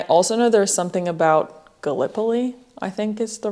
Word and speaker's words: Gallipoli: And then I also know there's something about Gallipoli, I think is the right way to pronounce it.